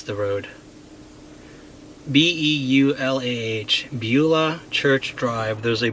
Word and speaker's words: Beulah: I can either take Lake Ridge Drive or Pitt Road, I'll show you on the map here, to, I can't even pronounce the road. B-E-U-L-A-H, Beulah Church Drive.